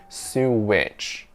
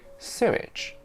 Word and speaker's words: sewage: answer was very simple it's simply wrong to say it like sue witch but we do add a tiny bit of what sound between su and itch so it should be sewage sewage you see when